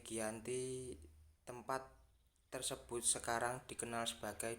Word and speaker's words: Giyanti: tanggal 13 Februari 1755 nama Gianti sendiri diambil dari lokasi pendatang perjanjian yakni di desa Janti dalam pelafalan Belanda ia tersebut sebagai Yanti sedangkan secara tertulis ia terbaca sebagai Giyanti tempat tersebut sekarang dikenal